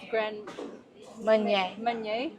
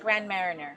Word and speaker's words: Grand Marnier: What I remember is having a crepe with Grand Meunier. Wow, it's spelled really weird, but Yeah, but it's like Grand Marinier. Yeah, Grand Marinier, Grand Meunier.